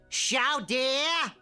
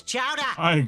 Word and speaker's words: Chowder: Sha dear. Sha dear. It's Chowder. Say it right.